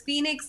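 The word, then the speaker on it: Fenix: His name is Phoenix, like Phoenix the bird, except it's spelled F-E-N-I-X.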